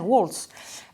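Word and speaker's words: Waltz: Deuxièmement, il y a eu l'affaire Walz, c'est-à-dire Walz… Walz, je prononce à l'américaine, Walz, c'est-à-dire son conseiller à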